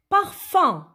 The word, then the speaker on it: parfum: Ben, regardez le dernier mot, parfum. Parfum. Alors, parfum, on entend le son 1 dans la deuxième syllabe, fin.